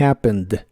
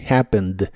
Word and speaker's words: happened: frase en el pasado en la palabra happened la e no se pronuncia When the accident happened When the accident happened y como la palabra